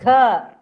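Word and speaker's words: घ: Stress and pronounce gha.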